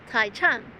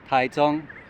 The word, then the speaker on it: Taichung: so yeah definitely come through to the National taong Theater but I just have to say one thing in English you'd read it as Tai Chang but then next says taong so just so